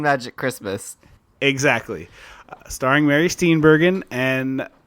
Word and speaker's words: Steenburgen: Christmas exactly starring Mary steenbergen and is it steenberg or steber I one second I believe it's uh I think it's steenbergen I believe it is a hard G um okay well in